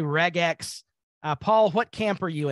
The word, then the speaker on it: regex: regex, some people say regex. Paul, what camp are you in? I'm in the reg, in that hard G. Because it's regular expressions, so I figure it's best to be regex, though there's a chance